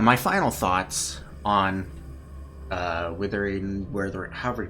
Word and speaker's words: Wuthering: __ ] know um everyone pronounces withering wave but it's not w t so I don't know where that's coming from I always pronounce it wethering w just cuz I thought it was W T at first but it just kind of stuck anyways that aside I'll